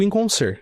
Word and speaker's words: Inconscer: A gente falou tanto do instituto aqui, eh, o instituto é o inconscer, correto? Sim, é, a pronúncia é essa mesmo.